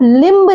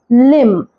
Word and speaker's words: limb: इसे आप लिम्ब नहीं पढ़ेंगे, ये है लिम्ब। अगर किसी वर्ड में MB साथ में आता है तो हम B को साइलेंट पढ़ते हैं, जैसे PLUMBER।